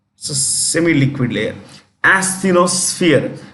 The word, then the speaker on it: asthenosphere: very semi-liquid layer, called asthenosphere. Asthenosphere. It's a gummy layer. It's a semi-liquid layer. Asthenosphere. When you pronounce this, it is SF, not SP, SF. Asthenosphere.